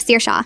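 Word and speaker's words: Saoirse: who becomes sorsy instead of sir shawa but go forbid you say Mrs.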